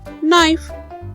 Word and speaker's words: knife: in keyboard as in knife oh the last one word is bit tricky there are more words like this last one word knife in those words we don't pronounce letter k so we will learn